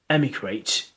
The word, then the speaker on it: emigrate: So immigrate, immigrate, immigrate, immigrate, and immigrate, emigrate, immigrate, emigrate, and immigrate. So it begins with E is emigrate, emigrate, emigrate, and begins with I is immigrate, immigrate.